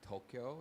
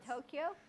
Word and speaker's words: Tokyo: learn how to say tokyo it's not tokyo not tokyo what is it tokyo tokyo tokyo tokyo it's two syllables not three they were talking about